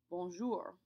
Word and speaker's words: bonjour: this word I say bonjour bonjour you don't really hear the r sound very much it's much more common in the southern half of France to pronounce it that